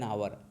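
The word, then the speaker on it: hour: जैसे देखिए, he will take an आवर, यच का उच्चारण, यच साइलेंट है, इसका उच्चारण अ बन रहा है ना, आवर, एन आवर, हावर नहीं पढ़ा जाएगा, गलत, आवर।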